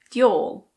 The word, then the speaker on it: d'y'all: Do you all can be said as d'yall.